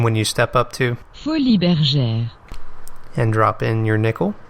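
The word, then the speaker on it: Folies Bergères: attempts I give myself, so let's let Google pronounce it for us, shall we? Folies Bergeres. Well, thanks, Google. This game's name, Folies Bergeres, comes from a famous cabaret in France.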